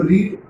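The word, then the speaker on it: read: Verb का तीसरा form, तो रीड का रीड ही हो जाता है, बस खाली प्रोनाउंसिएशन बदलता है, रेड हो जाता है।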